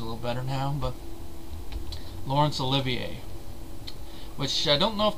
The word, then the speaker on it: Olivier: the boys from brazil which i mispronounced his last name because i didn't know it was pronounced olivier i mean i'm just